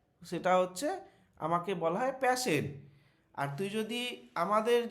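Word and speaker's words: Paschen: আচ্ছা, এই প্রোনাউন্সিয়েশনটা প্যাশন হয়? প্যাশেন, হ্যাঁ।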